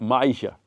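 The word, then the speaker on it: Myisha: awesome awesome awesome my name how do you spell that m y i s h Maisha Maisha yes and my question is how did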